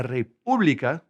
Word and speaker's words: República: The Dominican Republic is La República Dominicana, La República, put an accent on that U, Dominicana, and they are Dominicana.